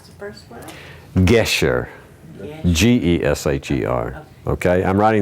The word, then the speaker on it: Gesher: do you pronounce the first word? Gesher.